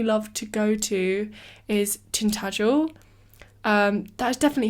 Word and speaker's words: Tintagel: One that I haven't been to, which I'd really, really love to go to, is Tintagel. That is definitely how you pronounce it.